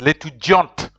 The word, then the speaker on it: l'étudiante: But here it is l'étudiante. If you put an e after the last consonant, if there's an e, you pronounce the last consonant. So you have to pronounce the t.